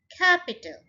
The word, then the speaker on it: capital: Capital, ये 3 syllable है इसके अंदर, capital. So stress पहले पे ही डलेगा, capital, first syllable के ऊपर.